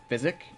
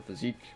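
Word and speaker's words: Physick: your flask of Wonders physic or physique whichever one you call it pronounced both ways I can get a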